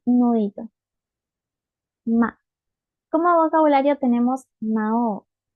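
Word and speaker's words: 魔王: ma como vocabulario tenemos Mao esta u no se pronuncia sirve para extender la o Mao Mao y Aunque suene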